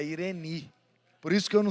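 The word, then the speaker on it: εἰρήνη: Então não é Irene, é Ireni.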